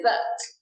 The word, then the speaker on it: dessert: Dessert is a 2-syllable word with the stress on the 2nd syllable. You can do it like this, dessert.